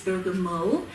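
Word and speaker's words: bergamot: look at buo first it's spelled burgot but the correct say saying is Burg Mo it's from Italy um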